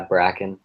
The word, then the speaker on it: Bracken: This is Bracken. Am I pronouncing that right? Yeah, Bracken. There's no pronunciation. It's a made-up name.